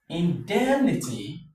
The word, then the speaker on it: indemnity: So, this is what is going to take the stress. So, we have indemnity. in-dem- ni-ty, indemnity.